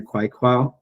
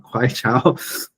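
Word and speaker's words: Queqiao: We see in their Kwaikwao, I'm pronouncing that way wrong, Kwaichao lunar relay system.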